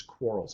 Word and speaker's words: Quarles: You should remember this, Quarles, almost like to quarrel, right?